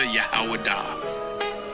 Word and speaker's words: Judah: When I say Judah, Yahwadah. That is the ancient pronunciation of the word.